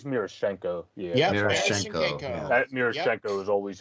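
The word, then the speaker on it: Miroshnichenko: the russian-born player ivan mirish i think it's murashenko yeah that murashenko was always how i've said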